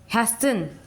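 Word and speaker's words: hasten: हैसन, हैसन, हैशन, इसको क्या pronunciation है, हैशन, हैश, HAS, AS, हैशन, N, टी का प्रोनाउंसिएशन नहीं हो रहा है।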